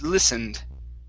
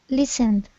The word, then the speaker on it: listened: This word, instead of listened, it's listened. Listened.